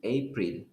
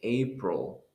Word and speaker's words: April: which is next month, you're not going to pronounce it April. Yes, you don't say April, you say April.